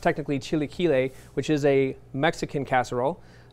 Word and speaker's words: Chilaquiles: This one is pronounced technically Chilaquiles, which is a Mexican casserole.